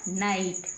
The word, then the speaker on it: night: आ रहा है, लेकिन G और H को नहीं बोलेंगे, केवल T को पढ़ेंगे। लिखा हुआ दिखाई देगा लेकिन हम मुंह से नहीं बोलेंगे। NIGHT बन गया नाइट, क्या बन गया, नाइट।